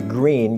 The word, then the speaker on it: Gruene: This is a green guitar. No, it's not green as in the color, and I'm not colorblind, and neither are you, but it is a green guitar, and green is spelled G-R-U-E-N-E.